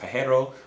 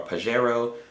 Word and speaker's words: Pajero: SUVs they had the I believe it's pronounced Pajero or Pajero those are pretty cool too